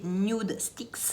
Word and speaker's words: Nudestix: Le blush de chez Nude Sticks, ce coup-là je le prononce encore une fois de la bonne façon, c'est le Tiger Lily Queen.